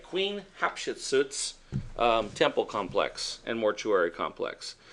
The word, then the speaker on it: Hatshepsut: guys get the picture just phonetically pronounce it hat she's boots puts a chef's suit Hatshepsut okay so did I suit